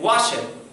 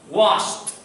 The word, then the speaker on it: washed: have a special pronunciation i never said wash it that is incorrect that is a terrible pronunciation wash it you have to make the sound like the t washed can you can you listen to the sound washed imagine next one i